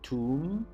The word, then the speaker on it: tomb: sure about the pronunciation we don't pronounce the b so we just say tomb it's the place where